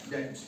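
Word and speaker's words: debt: डेप्ट नहीं पढ़ना है अब इसको हमने डेप्ट पढ़ना है क्या पढ़ना है डे ट क्या पढ़ना है डेट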